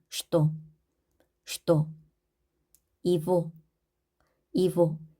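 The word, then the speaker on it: его: 이보, 이보. 이 고로 되어 있지만 우리는 이보로 읽습니다. 오의 강세가 있어서 그 앞에 있는 얘는 강세가 없기 때문에 강세 앞에 얘는 이로 읽는다.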